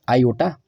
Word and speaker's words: iota: is represented as the symbol I pronounced as Iota this symbol I was